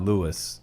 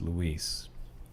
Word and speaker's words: Luis: It's not Louis, it's Luis.